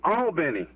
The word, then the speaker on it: Albany: is this hey it's charles how are you all this morning hey good man hey uh marshall